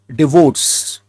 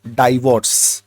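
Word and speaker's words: divorce: तो इसका साउंड आता है डी, ना कि डाई, डी। तो साउंड आएगा डिवोर्स, डिवोर्स, डिवोर्स इज the correct pronunciation, not डाइवोर्स। So they are that is they wanted to tell. तो ये बात आप याद रखना, इट इज नॉट डाइवोर्स, इट इज डिवोर्स with the stress on the second syllable.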